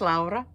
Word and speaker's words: Laura: haven't watched me before my name is laa um which is well Laura but laa is the finnished pronunciation of that name so I am finished